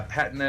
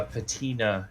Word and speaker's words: patina: we're both right uh i'm just more familiar with the british pronunciation in there whereas i'm guessing mine is the more americanization yeah patna is british uh patina is american okay so we're both